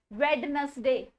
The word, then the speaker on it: Wednesday: Wednesday. कुछ नहीं होता है. Fine. Wednesday. D is silent in this. Wednesday. D को भूल जाओ.